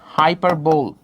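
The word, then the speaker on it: hyperbole: একটা জিনিস বলি কি, হাইপারবোল। কি বললাম? হাইপারবোল, অনেকে উচ্চারণ করে হাইপারবোলি।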